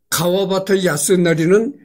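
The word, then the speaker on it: 川端康成: 설국은 일본의 작가 가와바타 야스나리 소설이다. 가와바타 야스나리는 이제 일본 발음이고, 한문 발음으로는 이제 천단 강성이죠. 내천자의 끝단자 구셀강 이루성.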